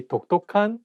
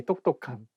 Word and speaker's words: 똑똑한: You cannot say 똑똑한. You cannot say 톡톡한. You have to say 똑똑한.